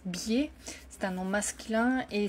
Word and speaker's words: biais: informations par le public un un BIA même si écrit B ça se prononce biaia c'est un nom masculin